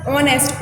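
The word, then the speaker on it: honest: भले ही आपको ये एच से लिखा हो लेकिन जो कि प्रोनाउंसिएशन है, जो बोलने का तरीका है वो किससे हो रहा है, ऑनेस्ट, ओ से.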